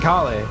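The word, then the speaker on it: Kalé: I've just been saying kale like the vegetable.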